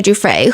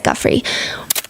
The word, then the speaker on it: Giuffre: and second of all she keeps pronouncing Giuffre as Guffre.